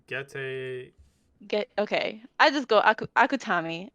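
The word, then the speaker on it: Gege: Geke Akutami. How do you pronounce it? I think actually you're really close. I think it's like Gete.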